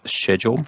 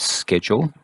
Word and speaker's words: schedule: that we want is schedule and that is how you pronounce it not schedule and here we just